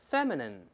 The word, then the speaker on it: feminine: ，我们读一下这词 feminine。